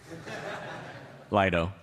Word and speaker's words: Lido: starting point is different what's the right way to pronounce lido lido and and the reason for that is the guy who who created it calls it lido so that's the only